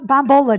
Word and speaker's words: Bombola: This is Bombola. Did I say it right? You nailed it.